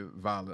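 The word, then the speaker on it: Dvalin: I have gotten past Storm Terror, aka Valen. I hate with them pronouncing the D on Valen.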